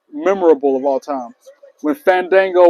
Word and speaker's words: Fandango: when Fandango was out and he was talking about people pronouncing his name the right way and Chris Jericho called him Fandingo, Fan Dumbo, Fandingo Dango. All that that promo was fire.